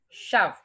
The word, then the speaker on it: shove: Yes, it is S-H-O-V-E. Shove. Shove. It is not shove. No. Shove.